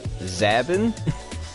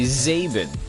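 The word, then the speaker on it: Zábin: I put an accent over the A. I notice a lot of people say my name the way that I don't say it. Everybody says Zabin. I say Zaben.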